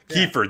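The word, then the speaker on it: Keifer: different instruments his voice kefir that's how you pronounce it the blues style to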